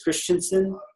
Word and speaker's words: Christiansen: you Jack R Christiansen is spelled Christiansen but it's Christensen and Ron and Tracy